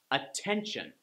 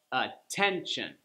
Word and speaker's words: attention: We go back one more syllable, ten, attention. You see how the second to last syllable gets the stress?